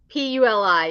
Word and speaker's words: Puli: Puli.